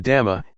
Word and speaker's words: dhamma: The dhamma, in Thai pronounced in the same way as the word tum, which means to do, refers to nature that exists by itself.